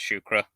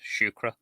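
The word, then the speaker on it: siúcra: sukar um in Arabic in Irish it's shukra the the S at the beginning is pronounced the way we would pronounce sh because it's next to the letter i which is a slim V so it's pronounced shukra uh that one doesn't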